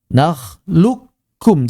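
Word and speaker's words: نخلقكم: Sama seperti mengucapkan nal lukum. Nah, sama seperti ini secara secara suara. Naklukkum. Jadi benar-benar nakluk ek ek nakluk kum. Nakluk kum bukan nakluk kum. Ada yang baca nakluk ini tidak tepat. Jadi jangan ditebalkan.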